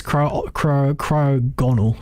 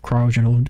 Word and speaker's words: Cryogonal: Yeah, it is Cryogonal. Sorry, I thought it was spelled with an E after the G, so that's why I thought it might have been pronounced Cryogonal. But never mind, couldn't have been more wrong.